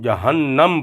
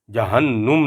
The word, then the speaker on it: جہنم: اسی طرح عموماً ہم جہنم پڑھ دیتے ہیں، حالانکہ اس کا نون جو ہے وہ مشدد مفتوح ہے، یعنی اس کے اوپر زبر ہے، ہم جہنم پڑھیں گے، جہنم نہیں پڑھیں گے۔ اسی طرح یہ مترجم